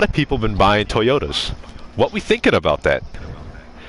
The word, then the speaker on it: Toyota: Also, Toyota rhymes with lime soda.